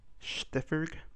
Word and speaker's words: Stiffer: people first things first my name is pronounced stiffer but uh I guess you can call me stiff uh if if stiffer